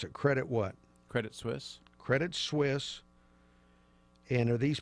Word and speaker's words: Credit Suisse: Now, this is how do you pronounce it? Credit what? Credit Suisse.